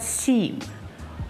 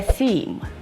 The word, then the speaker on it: theme: Because it's not seem, or them, or them. It's a theme.